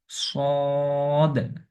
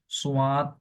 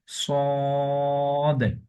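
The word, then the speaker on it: صاد: করে উচ্চারণ করতে হবে একটু মুখকে গুন করে মোটা করে পড়তে হবে যেমন সদ তারপর হচ্ছে তারপর এটা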